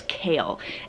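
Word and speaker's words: Cale: I know it is a boy's name, but that is Kale. And Kale spelt with a C, like C-A-L-E, not the vegetable.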